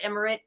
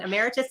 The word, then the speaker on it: emeritus: new business model said nor Miller a professor Emir Emeritus I always say that wrong Emeritus did I say it right timy yes of